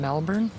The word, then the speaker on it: Melbourne: Melbourne, but they don't pronounce the R down here. It's Melbourne. Good defense from Djokovic as